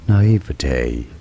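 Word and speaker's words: naïveté: naivity na na na where the pronunciation of in French na na in English however it is said as naivity naivity and now you know T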